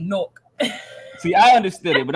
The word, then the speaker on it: Newark: But if you're from Newark, it's pronounced N-O-R-K, Newark.